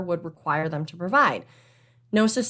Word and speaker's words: Gnosis: just this week from gnosis freight so no cis spelled g-n-o-s-i-s the g is silent the definition of gnosis which i kind of